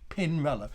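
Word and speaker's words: Pinarello: bike bands it helps if you get the pronunciation right so pin reload you want to repeat after me pin roller perhaps you could do you could do a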